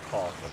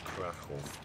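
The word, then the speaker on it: Kraków: It's not Kharkov, it's Krakow.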